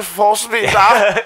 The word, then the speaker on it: Fassbender: It's Michael Fassbender.